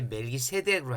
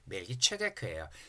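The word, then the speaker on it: מלכי־צדק: 우리는 이제 멜기세덱으로 하는데 왜 세덱으로 하냐 그러면 이 히브리어를 번역한 그리스 헬라어는 츠 발음이 없어요. 파찰음이 없어요. 라틴어도. 그래서 이거를 세다카라 그랬던 거예요. 그래서 멜기세덱으로 하죠. 멜기체데크예요.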